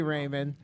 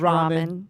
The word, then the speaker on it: ramen: Raymond the pho me Raymond it's pronounced ramen yeah - eat ramen